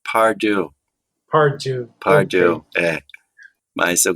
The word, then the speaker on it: Pardue: Você pronunciou bem em francês, que eu até gosto, prefiro, mas como eu sou norte-americano, eles falam Pardue.